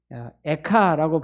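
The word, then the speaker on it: איכה: 히브리 말로 에가라는 말은 에카라고 발음을 하는데 우리나라 말이랑 발음이 비슷하죠.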